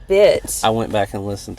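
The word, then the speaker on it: bituminous: Bioluminous. It's not bioluminous. That's how you say it. It's bit.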